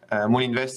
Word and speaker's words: Moulinvest: Moolinvest se escribe Moulinvest, Moolinvest, y hay un vídeo